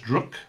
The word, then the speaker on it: druk: round or in danish druk i hope i'm pronouncing that right rook i'm sure my danish friends will tell me if it's not drook is like drunk but without the end all right so that's